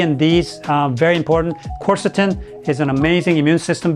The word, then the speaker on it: quercetin: I've been taking quercetin I thought it was cusetron I've been saying it wrong I say things wrong all the time I'm like Greg on Dharma and Greg I get all the words wrong uh so quercetin I thought I really thought that was qcetron but I can see why it's not now because there's no R after the C anyway uh chorus chorus